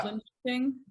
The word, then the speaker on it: Linköping: Linköping.